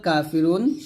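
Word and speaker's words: كافرون: কাফি রয় পেশ রু নুন জবর না কাফিরুনা হবে কাফিরুন রুতে আমরা তিন আলিফ টান দিয়ে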